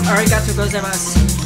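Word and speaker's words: ありがとうございます: arigatou gozaimasu.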